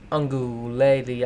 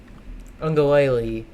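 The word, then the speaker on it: Uiagalelei: Because I know Ohio State fans know who Mateo Ungulele, I cannot say. I pronounce their name like once every 20 times. Ungulele. If you just say it fast, I think the key is just say it fast.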